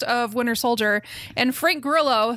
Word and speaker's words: Grillo: Each of these are, like we said, Frank is it Grillo or Grillo? I always say Grillo. I always say Grillo because he's white, right? So I assume it would be the white pronunciation.